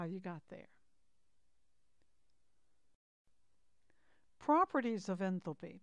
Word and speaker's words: enthalpy: Properties of enthalpy. By the way, that can also be pronounced enthalpy.